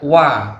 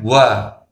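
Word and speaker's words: و: Jadi huruf wa ini sifatnya jahar atau jelas. Tidak boleh diucapkan dengan hembusan angin. Jadi yang benar wa, bukan wa.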